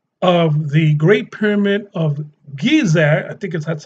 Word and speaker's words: Giza: that the dimensions of the Great Pyramid of Giza, I think that's how it's pronounced, Giza, it calculated Bible chronology.